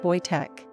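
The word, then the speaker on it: Wojtek: join their ranks they named him voichek pronounced boy Tech they cared for him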